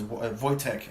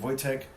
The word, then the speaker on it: Wojtek: His name is Wojtek, actually, is how you say it. Wojtek.